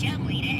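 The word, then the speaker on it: Cholmondeley: was Charles Chumley hang what Chumley that's not what it says on the screen yeah I know that's how he pronounced his name well he pronounced it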